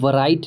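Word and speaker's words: write: पर क्या होगा कि ये डब्ल्यू आपका जो है ना वो साइलेंट हो जाएगा। फिर डब्ल्यू का उच्चारण व आप नहीं पढ़ सकते हैं। आप सीधे उच्चारण र से शुरू कीजिएगा।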